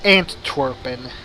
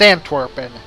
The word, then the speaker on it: Antwerpen: trying to make is the Dutch name for Antwerp is aunt Torben I pronounced that weird it's antwerpen and I just realized